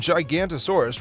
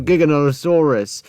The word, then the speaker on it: Giganotosaurus: it to measure a creature's size though even gigantosaurus ranks behind Spinosaurus and size among the Medan dinosaurs I'm counting the dude's mispronunciations right now and uh it's gigantosaurus Time